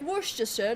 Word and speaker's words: Worcestershire: Like Worcestershire looks intimidating, but it's just Worcester. Worcestershire.